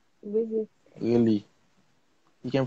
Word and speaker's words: Wizik: Ibrahim I Hamid can't Ko, pronounce it. Wizik. Wizik.